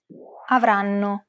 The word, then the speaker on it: avranno: Notice how each syllable is pronounced for roughly the same amount of time? The first N is held for roughly the same amount of time as all the other syllables.